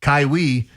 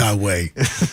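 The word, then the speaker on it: Kai-Wei: I like them to bounce back in this spot against Kaiwi. Kaiwi. He's pitching tonight for the Astros, or Kaiway, I believe it's probably pronounced. It is Kaiway, but it's not Kawhi.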